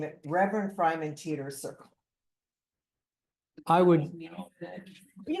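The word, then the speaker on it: Freiman: it'd be I good to think they have, pronounce it Freeman, but I'm not positive. it'd be cool to have a FAQ on It's why your street is. F-R-E-I-M-A-N. Fryman.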